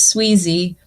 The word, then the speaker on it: Swezey: say squeezy or sweezer you did it right it's my actual last name is Sweezy and uh my moniker is sweezer sweezer outdoors yeah oh